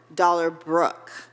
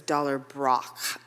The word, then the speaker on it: Dollar Brook: I need to know how to pronounce his name because I can't remember if it has Dollar Brook. Dollar Brook. Yes. Okay, thank you, because I wasn't sure if it was Dollar Brock, and I was like,